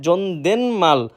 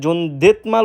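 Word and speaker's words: 존댓말: এরপর রয়েছে জনদেন মাল। জনদেন মাল যার অর্থ উচ্চ ভাষা বা বিনীত ভাষা। এটা আমরা প্রায় সময় জনদেত মাল উচ্চারিত করে থাকি, যেটা সম্পূর্ণরূপে ভুল। সঠিক উচ্চারণ জনদেন মাল মানে উচ্চ ভাষা বা বিনীত ভাষা।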